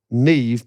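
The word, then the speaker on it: Niamh: For example, MH makes a V sound Yeah, we know. in Neve. Gaelic Neve. or Irish, thus Neve being pronounced as it is.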